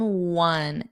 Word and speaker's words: one: Blur in blurry in one in one. Now remember this looks like a vowel, but what's the pronunciation? One. It's a W. It's the same as we won the game, which is spelled W N.